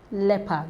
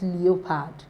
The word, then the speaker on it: leopard: all right that's key second one is leopard leopard not leopard so don't say because